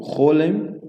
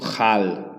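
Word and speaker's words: כל: O Chol, no caso, ela é pronunciada dessa forma, né? Então você não pronuncia como Hal, tá? E nem Kal. Então ela significa todo ou toda, né? Chol, por exemplo. Kol hakavod, né? Então, tanto pode ser Kol, pode ser Chol, tá?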